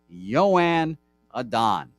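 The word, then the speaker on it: Joan Adon: did the research looked it up it's joanne joanne adan not joanne yo yo just like my first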